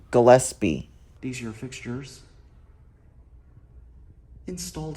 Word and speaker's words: Gillespie: It's pronounced Gillespie.